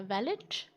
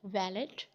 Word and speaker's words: valet: No, this is नॉट वैलेट, जैसे कि दिखाई दे रहा है और मोस्टली लोग इसको वैलेट कहते भी हैं। It's right pronunciation is वैले। T is silent at the end.